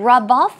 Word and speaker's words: rub off: rub off on someone now rub rub off the stress goes on the second syllable so let me make